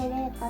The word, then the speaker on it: 令歌: なので令和の令に歌と書いてレイカと言います。